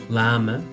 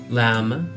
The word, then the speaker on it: llama: después la Llama llama se dice en inglés Lama Lama y se escribe como aparece en la pantalla que es